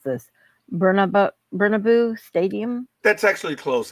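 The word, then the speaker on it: Bernabéu: next season at iconic oh lovely try to pronounce this bnab bernabo Stadium that's actually close it's babau okay uh the league announced uh Friday the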